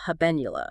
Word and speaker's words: habenula: And central to this whole process, this brain's warning system, there's a small but crucial region called the habenula. That's right. Habenula. It's spelled H A B N U L A.